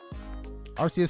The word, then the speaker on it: Arceus: Arceus has always been pronounced Arceus.